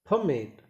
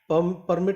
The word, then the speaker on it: permit: तो आप कहेंगे फमेट, फमेट. दोबारा सुनो. permit, फ फ फमेट, फमेट. परमिट नहीं, फमेट. Once again. permit, ये एज ए नाउन है, लेकिन आप एज ए वर्ब यूज करते हैं, तो देखिए permit, permit, देखिए दोबारा से सुनते हैं. permit, मिट, फमेट, फमेट. फ हल्का है, फमेट. मिट को स्ट्रेस दिया गया, मी को लाउडली बोला गया है.